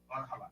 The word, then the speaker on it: Valhalla: People have no idea what how do you pronounce that? Valhalla. What? Valaha.